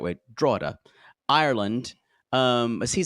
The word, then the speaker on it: Drogheda: Sean, 38, from Drogheda, Ireland. Drogheda. I had to make sure I looked it up and pronounced it the right way. Drogheda, Ireland, as he said, which is outside of Dublin.